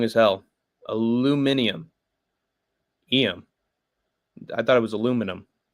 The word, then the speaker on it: aluminium: Aluminum, as Westerners pronounce it wrong as hell. Aluminium.